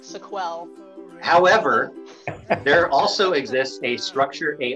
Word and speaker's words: SQL: Also, I think it's pretty clear that SQL should be pronounced SQL because it was invented by IBM back in the day. And initially, it was called SQL, the word S-E-Q-U-E-L.